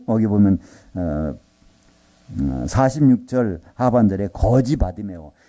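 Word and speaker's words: 바디매오: 이 바디메오라는 사람, 이 디메오의 아들. 이 성경에서 바르가 붙으면요, 바르. 이건 누구의 아들이라는 뜻이에요. 그래서 디메오의 아들, 그래서 바디메오. 그 바르를 이제 발음을 안 해가지고 그냥 바디메오는데요.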